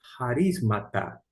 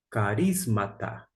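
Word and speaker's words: χαρίσματα: Nós temos aqui, ó, tendo, essa expressão aqui, tendo, aqui é e, tem duas maneiras de pronunciar. Eu, particularmente, eu pronuncio harismata. Alguns podem pronunciar carismata. Independente da forma, harismata ou carismata, aqui significa literalmente dons, porque está na forma plural.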